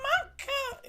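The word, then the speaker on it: Monika: And it sounds like you already know Manka. Is that how you pronounce that?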